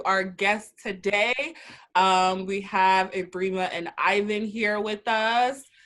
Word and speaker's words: Ebrima: Mostly people pronounce it Ebrima, but it's okay. It's Ebrima.